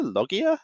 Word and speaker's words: LOGIA: We're going to be jumping in on Water Dragons versus L.O.G.I.A. or Logia? Logia? How do you want to pronounce that? Yeah, I'm going to go for L.O.G.I.A there. Logia it is.